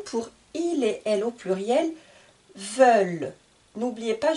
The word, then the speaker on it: veulent: il est au pluriel veulent n'oubliez pas je ne prononce pas le N et le t nous allons maintenant utiliser